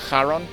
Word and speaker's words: Haron: time I streamed this I finally learned how to pronounce Haron that's how you pronounce it or I guess I